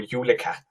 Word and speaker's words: julekat: correct pronunciation. It would be jólaköttur or julekat.